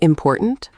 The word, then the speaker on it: important: The stress is on poor, the middle syllable. Important. Important. Yes. Now, if you said important, stress on the first syllable, it sounds strange. Wrong. Native speakers might not understand immediately.